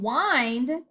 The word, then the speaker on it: wind: show the bling and then wind w i indeed spelled the same looks the same but we say the i we say the long vowel and that's talking about